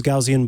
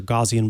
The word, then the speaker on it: Gaussian: don't like to use gaussian blurs or gaussian blurs depending on how you like to pronounce it because those ones seem